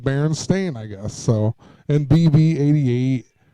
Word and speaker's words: Berenstain: being spelled Stein, the Berenstein Bears, but it was actually, I even remember in school they told you that it was spelled or pronounced as Stain and not Steen, and but because it